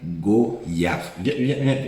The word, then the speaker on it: goyave: sort le vrai débat mais en France métropolitaine la prononciation standard est goyave approche-toi c'est d'ailleurs souvent la seule qui est donnée dans les dictionnaires dictionnaire je parle pas